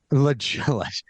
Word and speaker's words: La Jolla: to pronounce lovely embarrassingly it took me too long to figure out that that was called that was pronounced La Jolla yes La Jala in